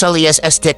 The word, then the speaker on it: Celestiq: We say at least because each Celestiq, pronounced Celestiq, will be built to the owner's exact specifications.